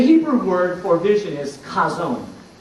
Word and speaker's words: Chazown: for vision is kazone now until this week I really hadn't been pronouncing this word the right way because you need to kind of make a guttural sound when you say it it's kind of like when you clear your throat you know like that